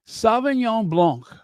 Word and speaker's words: Blanc: Signon Blanc is French Blanc. Can you say that with me? Blanc. The C is silent.